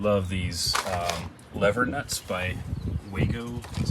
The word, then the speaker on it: Wago: you, I absolutely love these lever nuts by Wago, that's how you say it.